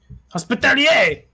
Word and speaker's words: Hospitaler: It's a French word, Tommy. You don't really pronounce the R. Oh, thank you. Hospitalier! Pretty much. It's like the chevalier.